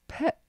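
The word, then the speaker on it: phat: So he starts PET, which is that seed syllable, P-H-E-T or P-H-A-A-T, which is like a cutting through.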